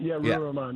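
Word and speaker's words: Ruwa Romman: State Rep Ruha Rahman, am I pronouncing that correctly? Yeah, Ruha Rahman, yeah.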